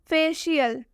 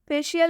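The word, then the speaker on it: facial: स्पेशल के एकदम बीच में सी और आई आया है, तो इसलिए हम यहाँ सी का उच्चारण तलाबे श से करेंगे। फेशियल, फेशियल में भी सी के बाद आई आ रहा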